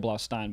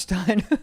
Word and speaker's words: Blaustein: pronounced Michael Blaustein, but it doesn't matter. We've been friends for a while. Stein. Yeah, it's Stein. Steen? No, it's Stein.